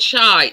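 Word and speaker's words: Shyte: taken only wait there's a chocolate called shite yes but not spelt like that um s h y t e but still pronounce the same shite so uh i'll look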